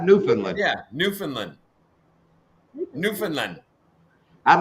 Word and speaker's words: Newfoundland: get you newfoundland see i said it right newfoundland yeah newfoundland newfoundland i'd like to hear backwoods pronounced happy birthday i don't want to say